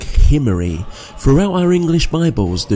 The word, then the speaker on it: Omri: with a guttural sea so it would be pronounced something like himmery throughout our english bibles